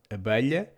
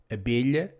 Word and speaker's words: abelha: The same goes for abelha, bee; coelho, rabbit; and espelho, mirror, which can also be pronounced abelha, coelho, and espelho. If you find it easier to pronounce abelha, coelho, and espelho, because the sound is more recognizable as an E, please do so.